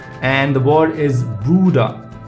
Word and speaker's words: Bruder: So B, and the word is Bruder. It's pronounced the same way in English if you use it in a word, but separately it's B.